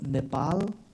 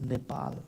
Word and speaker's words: Nepal: installation we all know Nepal not Nepal but Nepal the right pronunciation was part of India